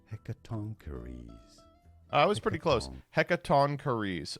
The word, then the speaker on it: Hecatoncheires: Embrace the salvation of the Hecatoncheire. So let me try that again. Hecatoncheire. We are looking at how to pronounce this name from Greek mythology. How do you say it correctly? Hecatoncheires.